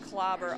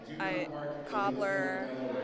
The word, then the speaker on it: Clobber: People struggle with my name, Clobber, all the time. I get Cobbler, Clobber her, Gobble her, but it's Clobber.